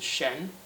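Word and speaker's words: 申: On the right, we have this character here, which is pronounced Shen.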